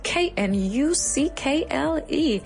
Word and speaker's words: knuckle: el saxon genitive nudillo the knuckle knuckle se escribe con una k al principio k n u c k l e k n u c k l e knuckle, very good.